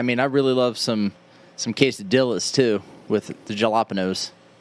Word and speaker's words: quesadilla: Well, I mean, I really love some quesadillas too with the jalapenos. That's pronounced quesadilla. Whatever. I mean, everybody has their own version of it. It depends on what region you're from.